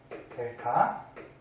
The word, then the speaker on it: 델타: 세모의 뜻은 변화량이라는 뜻이고 읽을 때는 델타라고 읽어주면 돼요. 델타. 그래서 I는 델타 P.